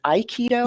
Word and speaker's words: aikido: i pronouncing that right is it ai keto yes you are aikido like your eye yes aikido of reno